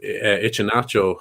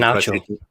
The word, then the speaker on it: Iheanacho: Great finish by Greenwood, but he's gotten a tune out of Ichinacho or Ichi. I'm not sure how you pronounce his name. Iheanacho.